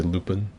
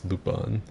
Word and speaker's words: Lupin: people don't like it i say it like how they do in the anime most people say lupin but it bothers me singing lupin when everyone in the show says lupone i absolutely